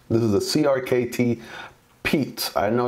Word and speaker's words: Piet: crkt Piet Piet so it is actually pronounced Pete Pete this is the crkt Pete I know it's spelled